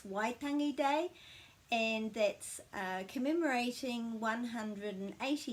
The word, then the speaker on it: Waitangi: here's how to pronounce waitangi correctly why means cry or sound or noise and this isn't tangy wai tangi the vowels are pronounced and we always put a break after every vowel so it's waitangi day